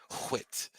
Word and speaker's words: Whit: It rhymes. It rhymes with wit. Whit.